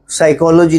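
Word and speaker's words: psychology: जिसमें P silent हो जैसे साइकी साइको है साइकोलॉजी है साइकेट्रिस्ट है सब में पीस साइलेंट है ऐसे कोई शब्द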